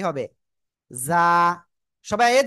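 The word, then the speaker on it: ز: জ- উচ্চারণ করেন। জ- আজ, আজ, জ- এই যে ঝিঝি পোকা যেমন ডাকে এরকম বলতেছি। জ- জ- সবাই জোরে জোরে জোরে জোরে জ- জ- এরকম আওয়াজ করতে হবে।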